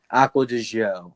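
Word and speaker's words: Acqua di Giò: or the gia show aqua to show is how you pronounce it yeah so it comes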